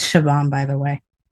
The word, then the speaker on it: Siobhan: But you know, I I It's Siobhan, by the way. Siobhan? Siobhan. Siobhan.